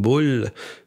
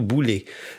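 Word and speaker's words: βουλή: mot grec boulet boulogne2 même comme bull mais ça se prononce plutôt boulet la boule et c'était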